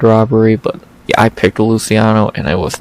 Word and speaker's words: Luciano: Sam Hughes versus Stephanie Luciano. Or if I'm a fucking idiot like Bisbing, Luciano, which is not how you say it in the fucking slightest.